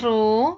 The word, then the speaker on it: rho: p sama dengan rho ini bacanya rho Ya anak-anak bukan p ini rho kalau ditulis simbolnya seperti ini mirip P tapi agak miring gini ya rho * g *